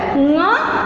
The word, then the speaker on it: ङ: इसका उच्चारण ङ होता है।